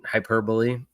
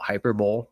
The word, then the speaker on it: hyperbole: Hyperbole or as it looks like when it's spelled out hyper bowl.